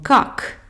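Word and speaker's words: как: de lecture en russe toutes les lettres sont prononcés même les consonnes à la fin comme cac on prononce bien les deux cas 4 quatrième lettre c'est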